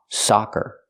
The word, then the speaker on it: soccer: team is undefeated so we hear how it's open ah ah s soccer they're different sounds and the two words mean two very different things example he's playing on a soccer team remember it's open AA soccer he's playing on a